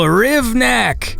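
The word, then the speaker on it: Hrivnak: Happy belated birthday to Silent H, Daniel Rivnak, because your last name starts with an H and the H is silent. Happy birthday.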